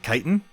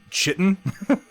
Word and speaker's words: chitin: have for it is that's not how you pronounce the word chitin i think he says like chitin a wave of chitin